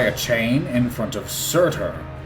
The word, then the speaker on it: Surtur: chain in front of Surtur. The pronunciation of his name made me believe that he was named after a mattress brand.